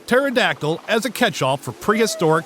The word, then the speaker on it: pterodactyl: jurassic and cretaceous periods why can't you hear a pterodactyl go to the bathroom the p is silent get it sorry that